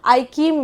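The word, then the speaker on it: AIKEYME: इसको हम क्या कहते हैं, आईकीम में, ठीक है, आईकीम इसको प्रोनाउंस करते हैं.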